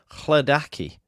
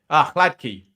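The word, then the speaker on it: Hladký: And just finally here, James says, I thought I had been pronouncing it right. Chladaki. Chladki. Chladki. You're putting an extra A in it, Joe.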